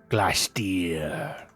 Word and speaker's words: Glysteer: Glasteer. It's a long E.